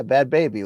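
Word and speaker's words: Bhad Bhabie: Yeah, Bad Baby, Luke. That's how you pronounce the girl who was like, "Catch me outside."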